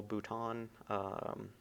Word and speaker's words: bouton: this infoot or terminal bouton. I believe it's pronounced in somewhat of a more French way like that.